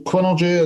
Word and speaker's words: Quinnergy: So Quinnergy, I don't know if you can see it.